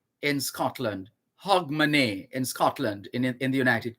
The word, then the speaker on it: Hogmanay: year on new year's eve which is called hogmanay in scotland h o g m a n a y in scotland hog monet in scotland in the united kingdom that's what